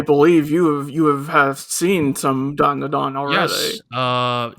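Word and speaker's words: Dandadan: The first one is this, do we just say this Don da Don? Is that all it is? Yes, that is correct. Just say it like that. Yep. There's no other weird pronunciation or whatever.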